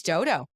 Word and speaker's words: Dou Dou: You can drive by it 100 times and not see Dou Dou. Dodo. It is Dodo.